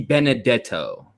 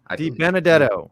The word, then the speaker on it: Benedetto: that's what he does but no it's uh it's the benedetto benedetto yeah important year because he